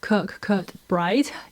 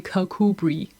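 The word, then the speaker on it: Kirkcudbright: whole time apologies apologies it's not kirk curt bright it is actually kakubri who can tell but anyway i am going on a holiday to kakubri i'm very excited to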